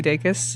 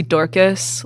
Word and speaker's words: Dacus: I guess, because no one can be Lucy Dacus. And, they can be Lucy Dacus, which is how I mispronounced Lucy your Dacus, name. Totally. Lucy Dacus up for grabs. Lucy Dorcas, Lucy Dracus.